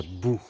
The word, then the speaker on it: Boo: Je m'en vais à Boo. Boo, c'est une ville qui s'écrit B-O-O. Alors, c'est la ville qui fait peur en anglais, là. When you say Boo.